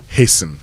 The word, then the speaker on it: hasten: Hasten, you see it there.